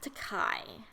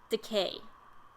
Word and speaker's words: Takei: correct pronunciation of decay because it rhymes with gay.